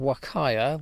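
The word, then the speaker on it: huacaya: types of alpaca mentioning these are called wakaya with a silent h aur woh kiya there's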